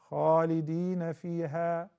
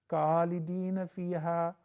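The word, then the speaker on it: خالدين فيها: Khalidina fiha, Khalidina fiha. What happened? You switched. It used to be Kha, now it is Ka. That is not correct.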